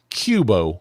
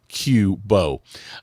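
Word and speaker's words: Qobo: allergic to dogs well Cubo might be the solution for you I I hope I'm pronouncing that right it's q o b o so I'm going to count pronounce it Qbo um it's a furry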